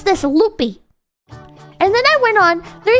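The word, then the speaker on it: Lupe: And I was pronouncing this motherfucker loopy for the longest time. It's actually pronounced loop.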